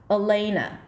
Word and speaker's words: Elena: Now, the other two syllables are pure vowels. The beginning is E and the ending is A. I would turn them into a schwa. Elena.